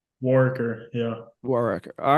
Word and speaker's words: Warrecker: We've heard a Yeah, couple different pronunciations, so I want to make sure I had it right. Warwicker. Yeah. Warrecker.